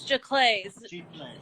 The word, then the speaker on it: giclée: to pronounce that anyway. It was giclées.